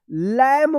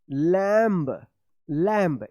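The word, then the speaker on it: lamb: लैम मत पढ़िएगा। लैम जैसे इस तरह से लैंब लैंब यह गलत हो जाएगा। ये सही है लम यानी बी जो है ना साइलेंट रहेगा जैसे यहां पे देखिए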